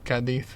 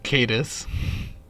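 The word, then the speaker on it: Cádiz: Well, depends on the accent, but yeah, Cadiz is pronounced like that, if you know what I mean. Yeah. Like, it's not Cadiz.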